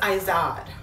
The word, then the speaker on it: Izod: I think it's pronounced Izod for men.